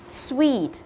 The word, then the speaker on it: sweet: đi à a sweet sweet nhớ đừng đọc là Switch đừng có lên giọng mà chúng ta hãy xuống dần giọng của chúng ta với cái ngữ điệu của từ này Kể cả có một